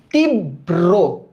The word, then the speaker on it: তীব্র: তীব্র, ব্রো, তীব্র, হ্যাঁ বিয়ারো ব্রো। তাহলে লেখো তিব, ফার্স্টে লেখো তিব, তারপর লিখবা ব্রো, তীব্র।